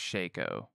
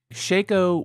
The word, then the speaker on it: Shaco: Shaco or Shaco but I'm pretty sure it's pronounced Shaco Shaco maybe like Shaquille O'Neal Shaco is an absolute anomaly